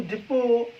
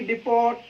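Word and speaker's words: depot: ऐसी दोस्तों देखिए डिपो डिपो की स्पेलिंग देखिए दोस्तों इस मिट्टी साइलेंट होता है इसको पड़े हम डिपो ना कि डिपॉट डिपो और भी दोस्तों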